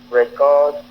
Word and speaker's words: record: Même orthographe, deux significations différentes en fonction de la position du stress.